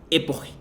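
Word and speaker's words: epoché: A este movimiento de poner entre paréntesis, Husserl le llama, utilizando el concepto de los escépticos griegos, epoge, o epogi, según su pronunciación de griego favorita, ¿no?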